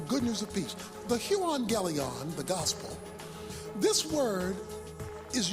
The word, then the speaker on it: euangelion: The Greek word for gospel is the word euangelion. That's how it's pronounced.